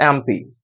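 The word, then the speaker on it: MP: आ गया है तो अगर आप इस एम को प्रोनाउंस करते हैं एम को अगर आप प्रोनाउंस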